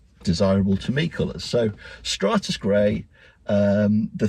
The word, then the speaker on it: Stratus: getting the name wrong I keep calling it Stratos gray but it's Stratus gray Stratus gray I guess it's like a cloud isn't do you get stratus clouds I'll go with that